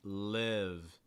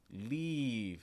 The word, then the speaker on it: live: like so for instance that first word should be live live not leave so it's not leave it's not e it's it the short i sound live live or for